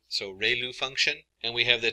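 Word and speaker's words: ReLU: um Ru is pronounced like Ray the ray from the Sun and L like a name so rayl function and we have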